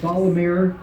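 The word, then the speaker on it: Ysalamir: How do you pronounce the Salmari, Jorah Sabath, and Luke with multiple U's? A Salamir, plural, a Salamiri.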